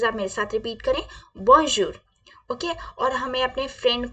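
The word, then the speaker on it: bonjour: respectful person को किसी को हम क्या बोलेंगे बन जूर हमें किसी को हेलो बोलना है क्या बोलेंगे बन जूर प्लीज आप मेरे साथ रिपीट करें बजर ओके और हमें अपने फ्रेंड को या अपने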